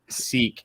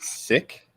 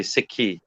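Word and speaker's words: Sikh: it don't pronounce it you don't pronounce it seek you pronounce it sick that's correct okay be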